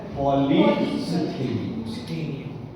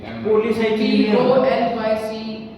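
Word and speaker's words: polycythemia: अब अगर RBC count ज्यादा है तो इस बीमारी को बोलते हैं पॉलीसिथीमिया। क्या कर दिया, स्पेलिंग देख लेना, CI होगा, पॉलीसाइथीमिया सही है, ठीक है, पॉलीसिथीमिया।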